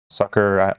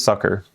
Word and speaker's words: succor: Succor, I should just look up how to pronounce that word. It is Succor.